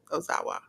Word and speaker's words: Ozawa: They had Our Rebellion, Kato Kayami and Keno defeat Team 2000X, which was Daga and Ozawa. Is that how you pronounce it? Ozawa.